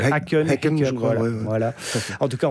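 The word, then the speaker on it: Häcken: contre les Suédois de Aen. Faut dire c'est Henen.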